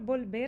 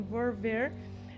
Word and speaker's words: volver: L, volver, custa, então, aí é onde é mais fácil se você fala a pronúncia do B. Volver, talvez você erre menos falando volver do que volver.